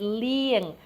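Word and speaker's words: លាង: And this word is liang. This is the ia verb, or vowel, excuse me, that we talked about. So which syllable would be accented? If it's the ia, it would be the first.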